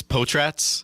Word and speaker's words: Potratz: Uh it's Potratz. Potratz. And where where's that name come from? Uh Potratz is a Where did it come from again?